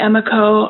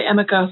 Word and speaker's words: Emiko: And one of the things I absorbed is how, I know some people say Emiko, I say Amiko, I'm not sure how you pronounce her name correctly.